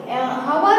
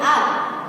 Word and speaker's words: hour: H है वो consonant letter है, व्यंजन है, लेकिन इसका प्रोनाउंसिएशन करेंगे तब H से हम हार नहीं बोलेंगे। ओके, हवर नहीं बोलते, HOUR को हर नहीं बोलेंगे, क्या बोलेंगे? आर।